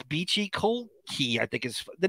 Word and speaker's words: Colclough: c-o-l-c-o-u-g-h but the seat the last part it looks like it's cough right it's spelled great somehow